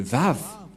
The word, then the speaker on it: vav: voir la prononciation de la lettre V c'est comme ça voilà le vav V ou W A W et comment ça se